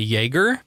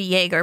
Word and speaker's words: Jaeger: been calling this guy Yeager so far, but McCoy pronounces it Jaeger with a hard J. It's actually Jaeger because it is German and J's are silent, but McCoy's an idiot.